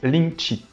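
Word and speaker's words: 靈氣: le kanji l'idéogramme Reiki en chinois il se prononce lincci et Linky nous dit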